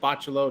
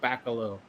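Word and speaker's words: Bachalo: right number 13 chris bachelow i'm told it's pronounced bachelor not baccalo chris bachelo at number 13.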